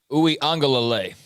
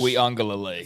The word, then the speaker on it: Uiagalelei: Uwe Angalale. Yes. Uiagalelei is how you say that.